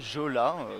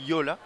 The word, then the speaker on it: Jolla: Jola, vous pouvez le prononcer comme vous voulez, mais normalement c'est Yola.